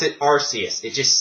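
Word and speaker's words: Arceus: in CNO the creation Trio in arus I pronounce it arus it just sounds better to me I know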